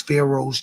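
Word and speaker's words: Faro: The world knows Pharaohs to be kings, my My name is spelled fashion pharaoh. F A R O.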